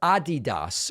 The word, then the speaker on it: Adidas: And Adidas, or Adidas, as some of our friends pronounce it, has retracted their opposition to the Black Lives Matter 3-stripe design.